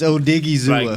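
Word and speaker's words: Odighizuwa: It's Odigizua. Like, did he ever go to school? You know, I ain't finna have that. It's Odigizua.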